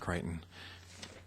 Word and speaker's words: Crichton: It's pronounced Crichton. I think I got it right, but okay, Crichton.